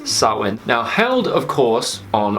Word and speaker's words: Samhain: pagan fire-based festival called sarwen yes it is spelled samhain but that's not what it's actually called it is sarwin now held of course